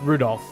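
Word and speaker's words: Rudolf: Anyways, this guy's name is pronounced Rudolph.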